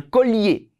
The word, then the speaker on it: collier: un bracelet, une casquette, un chapeau, un collier, 여기 collier라고 하지 말고 L 발음 나와요. un collier, une cravate, des lunettes, 복수, des lunettes 복수 명사예요.